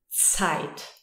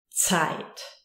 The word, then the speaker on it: Zeit: It's always sharp. Z. It's like a ts. Zeit. Zeit.